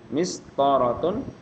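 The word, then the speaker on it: مسطرة: Mistaratun penggaris. Jadi kalau enggak ada tanda panjang jangan dipanjangin. Ya.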